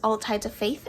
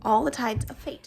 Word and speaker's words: All the Tides of Fate: all types of fate i want to call this all tides of faith every time and i know it's not that but every time i say it wrong all the tides of fate so uh change of